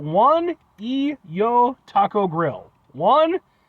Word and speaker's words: Juan y Yo: a place called and I apologize for any mispronunciations on my part they are called one EO Taco Grill one j u a n space